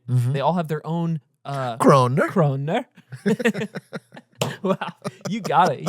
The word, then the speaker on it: kroner: They all have their own Kroner.